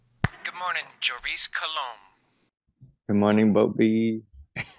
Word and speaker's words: Joris Coulomb: Joris Coulomb. That's not how you say it. Joris Coulomb. Good morning, Joris Coulomb.